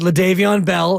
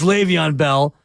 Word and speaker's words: Le'Veon Bell: eyes uh they had leavon Bell as the lead back and I pronounce it that way because that's how my son qu Quest would he thought his name was leavon Bell it's Le'Veon Bell but and he took